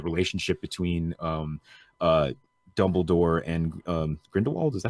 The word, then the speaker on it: Grindelwald: McGonagall, and the relationship between uh Dumbledore and Grindelwald. Is that how you say his name? I Yep, hadn't said it out loud yet, so I Grindelwald.